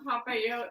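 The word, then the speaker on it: papillote: You know, I thought it was really kind of synchronistic that you and I would choose Salmon on Papayot, which rhymes with go vote.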